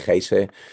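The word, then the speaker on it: Geyse: I think it's called it's said gays in Portuguese in in Spanish we call it hes. So but I think it's Jay that's the that's the right way to say it.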